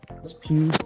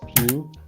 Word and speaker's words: Pugh: used to say Florence Pugh's last name as Pug. What? What? The girl who plays Yelena, her last name is apparently pronounced Pugh, but I used to say Pug.